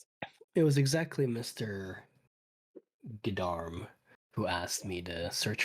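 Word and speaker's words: Geddarm: It's I'm saying Gdam and I'm saying it wrong. It's Gdarm.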